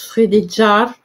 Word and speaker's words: Frédégaire: chronique de Frédégaire, hein, que je vous dis que ça se prononce Frédéjar, mais bon, voilà, du